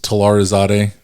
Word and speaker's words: Talarizadeh: well facebook i mean my last name is talarazade so uh i guess that's probably should spell it yeah so it's t a t-a-l-a-r-i-z-a-d-e-h um i'm the only telarazade that exists on facebook so it's pretty easy